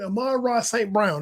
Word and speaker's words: Amon-Ra St. Brown: Amon-Ra St. Brown, that's his name.